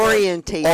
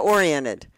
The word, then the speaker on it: oriented: How do you say You're adding an extra syllable.